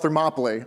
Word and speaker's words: Thermopylae: That would be the Battle of Thermopylae. I'll spell it for you because Greek names. It's Thermopylae.